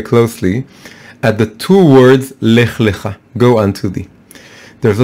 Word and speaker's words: Lech Lecha: It's Lamed and then Chaf. Lech Lecha. It's pronounced differently, but if you look at the Torah scroll, you can't see the difference.